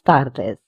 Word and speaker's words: tardes: So we will say buenas tardes. D in Spanish is pronounced as the instead of du.